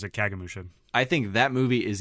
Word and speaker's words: Kagemusha: I think, I don't know how you said it, Kagemusha, his other color movie. That might be how you pronounce it. Yeah, I always pronounce it Kagemusha.